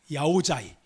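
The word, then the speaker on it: áo dài: 야오자이. 야오자이가 남부지방으로 가면 그 D 발음이 야오 이응으로 바뀌어서 야오야이라고도 하고 야오자이라고 하는, 여러분 베트남 여러분 여기서 복장 알잖아요.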